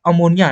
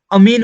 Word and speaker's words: ammine: में दिख गया NH3, तो NH3 को आप अमोनिया ना बोल करके आप क्या बोलेंगे? वहां पे अमीन बोलेंगे। क्या बोलेंगे? अमीन।